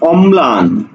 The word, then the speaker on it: অম্লান: দেখো অম্লান, তাহলে ম্লান, অর্থাৎ দ্বিত্ব করে উচ্চারণ হবে।